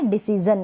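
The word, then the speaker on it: decision: Next है डिसीजन, क्या है डिसीजन, यहाँ पर भी जन पढ़ रहे हैं, शन नहीं पढ़ रहे हैं।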